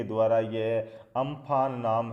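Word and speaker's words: Amphan: मतलब थाईलैंड के द्वारा ये अम्फान नाम है जो दिया गया है, जिसका उच्चारण उम्पुन के रूप में किया जाता है।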